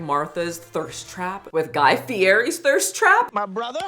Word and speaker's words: Fieri: call it Fier but the E the r and the i in Italian you roll it Fier why like what is